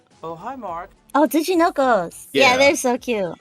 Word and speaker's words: Tsuchinoko: butcher the pronunciation. Sushinokos. Oh, hi, Mark. Oh, Tsuchinokos.